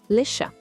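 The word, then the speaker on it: chat: Repare bem, o t no final da palavra está ali na escrita, mas a gente não fala. Simplesmente lechá, o gato.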